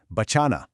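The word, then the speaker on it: बचाना: To save is bachana. Bachana. You hear how that middle cha is drawn out just a little bit?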